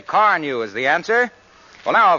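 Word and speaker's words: Carnu: You see, Car New does not one, but 2 jobs at once.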